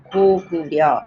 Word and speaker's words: 고구려: It's pronounced as 고구려, like a soft, like a G sound, as opposed to K.